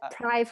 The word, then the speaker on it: Pryv: It can be said Pryv or Pryv, depending how you pronounce it. It comes from privacy.